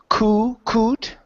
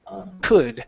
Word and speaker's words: could: And our last word here on this page is could instead of coot. Okay. Open your mouth up. Open that vowel. It's uh could.